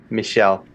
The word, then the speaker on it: Michel: My buddy Mike, took the class with me, and his name is Michael, and in French it's Michel, which is adorable.